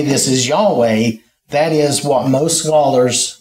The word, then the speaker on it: Yahweh: the pronunciation is but it's unclear for sure what vows they used with that because ancient Hebrew didn't have vowels they just had their consonants and so since they lost that oral tradition there is there is some question about that but our best our best ball our best idea at this time is that it's Yahweh so all right so the